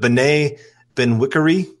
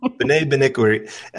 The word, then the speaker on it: Bené Benwikere: just don't want to say his name, but Bené Benwikere. Did I say that right? That was good, man. Okay, I'll take it. Okay, Bené Benwikere.